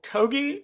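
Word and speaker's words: Kogge: was on my panel uh Michael kogi I think that's how he pronounced his last name it is kogi I I spent I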